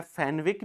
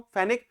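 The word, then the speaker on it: Fenwick: और एक प्रोनंसिएशन इसका जो है फेनविक भी होता है। ठीक है? लेकिन वो सरनेम्स के लिए यह एप्रोप्रियट है। अब मैं क्यों कह रहा हूं? इसको मैं प्रोनाउंसिएशन क्यों कर रहा हूं? फेनिक।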